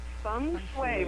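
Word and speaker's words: Feng shui: Concepts in my design and how do you pronounce that again it's F sway it's actually spelled Fe n g so it's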